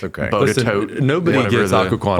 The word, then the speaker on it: Botetourt: Bodetote. Nobody whatever gets the- Occoquan right. Botetourt, I think. Everybody gets it wrong. Bodetote. Botetourt. So- We used to call it Botetourt County.